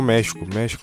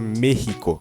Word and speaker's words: México: A própria palavra do México em espanhol se fala México, com som de dois R's aqui. México.